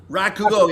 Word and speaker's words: rakugo: If you could teach this style, this uh how do you pronounce it again? Rakugo or Rakugo.